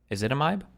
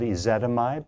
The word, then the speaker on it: ezetimibe: symptoms, but would be started on aspirin, rosuvastatin, ezetimibe. How do you say this again? Hold on. And if that doesn't work, add a drug called ezetimibe.